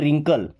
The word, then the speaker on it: wrinkle: ऐसे कई सारे वर्ड्स हैं या लगभग सही वर्ड्स ऐसे होते हैं कि अगर डब्ल्यू के बाद में आर है तो डब्ल्यू हमारा साइलेंट हो जाएगा, उसको पढ़ेंगे नहीं।